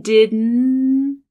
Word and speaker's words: didn't: She's using what's called a syllabic N here. It's an N sound that is taking up an entire syllable and there's no T at the end. It's a held T. So the T where your tongue is up, but you're not releasing it.